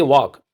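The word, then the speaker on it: walk: और नॉलेज बधाइयां देखिए वॉक वॉक में जो एल है ये पढ़ा नहीं जाता मोर मोर में जो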